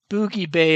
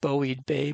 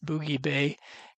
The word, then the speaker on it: Boughey Bay: got down here to they pronounce it Boogie Bay, I'm told. Kind of looks like Bowie Bay, but it's Boogie Bay.